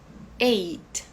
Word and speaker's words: eight: novo M seven eight Eight perceba que esse GH aqui ele é mudo né a gente fala como Só se fosse isso aqui e e nine